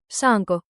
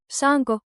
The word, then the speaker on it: Saanko: Say it on 2 beats. Saanko? Now loop it. Saanko, saanko, saanko?